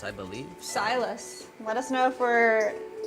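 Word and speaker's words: Sylas: thought I had long hair confirmed that it's pronounced silus nice when he was adopted he changed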